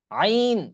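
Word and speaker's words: ع: করে নিন আইন আইন আইন আইন একদম ভিতর থেকে আসবে আলী আইন হ্যাঁ এটা যেন ভুল না হয় কারোর সকলে একটু আইনটা কারণ আইনটা অনেক কঠিন হ্যাঁ এটাই হলো কঠিন আইন এবং দ আইন আইন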